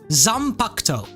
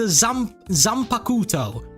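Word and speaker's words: Zanpakutō: Like the Zampacto. I hope I said it right. I used to call it the Zampakuto, and everyone was flaming me in the comments.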